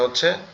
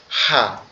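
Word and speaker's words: ح: আমরা এখানে যে অক্ষরটা পড়তেছিলাম সেটা হচ্ছে হা। এই হার উচ্চারণটা একটু কঠিন। এই হাটা হচ্ছে আমাদের এই যে গলার এই যে অংশটা এইযে তৃতীয় অংশটা গলার এযে দ্বিতীয় অংশ যেটা আছে এখান থেকে উচ্চারণ হবে।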